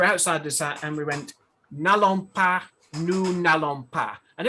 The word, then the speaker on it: Nallon: I just have a feeling that the Irish that's just how they pronounce Nolan in their Irish accent, and it came out as Nallon.